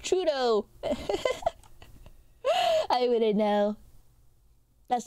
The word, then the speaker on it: Trudeau: my ham ham OS in jail it's pronounced Trudeau I wouldn't know that's not my prime minister